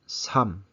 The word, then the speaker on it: 삶: And then for the next one, it leads with a mium. So it's 삼. It's not 삶, right? It's 삼 when you say it.